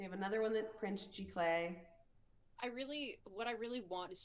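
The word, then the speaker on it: giclée: G Clay? What? G Clay prints? Or It might be G Clay. I always pronounce it Gisli. It's Giclee, I think. G Clay.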